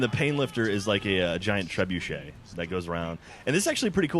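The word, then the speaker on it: trebuchet: How you pronounce that as trebuche? Yeah, it's trebuche. Trebuche was treebucket. Tree bucket. It's definitely trebuche.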